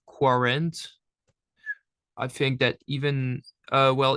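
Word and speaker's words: quarante: Here, the Q and U in French is always pronounced as the letter K. So just a K.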